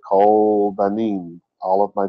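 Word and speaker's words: כל: one of them anyway this is the sound of like word cold it's spelled differently but it sounds the same this means all its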